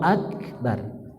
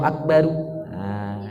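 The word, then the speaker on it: أكبر: Cuma sunnahnya diwakafkan, dijazamkan, disukunkan. Allahu akbar. Cuma kalau ada yang bacanya dengan dhammah sebagaimana baris asli, tidak salah. Cuma kurang tepat.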